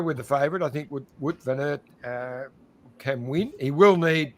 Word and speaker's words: Wout van Aert: John, it's Wout van Aert. That's it. Wout van Aert.